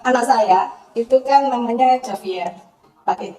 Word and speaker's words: Javier: saya itu kan namanya Javier pakai j ya Javier gitu tapi kalau di luar di situ kan Ha bacanya kan Haier sebenarnya I Haier kan Tapi kalau sini kan Javier itu ya udahlah Pak saya